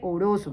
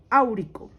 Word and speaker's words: áurico: No se dice oroso, no. Se dice o auroso o áurico.